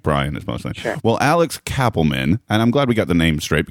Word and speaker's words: Kapelman: to do this but it's actually pronounced Cappleman ah no that's good Cappleman is good because I